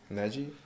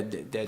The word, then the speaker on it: Deji: Neji? Yeah, Deji. Digi.